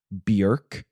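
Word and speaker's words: Björk: behind me in saying that it's not pronounced Bjork oh really it's pronounced Bjork Wow my whole world has been turned upside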